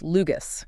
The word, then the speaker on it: LUGAS: That's L U G and it's pronounced Lugus. Exactly. And our plan today is to really get under the hood of this Lugus system.